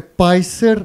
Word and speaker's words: PySer: So, izgovara se PySer namerno. What I just said is it's pronounced crowbar intentionally.